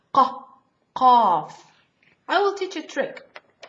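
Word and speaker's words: قاف: Qaf. Very tough. Comes from the throat. Qaf. I will teach a trick. We have, after the qaf, we have kaf.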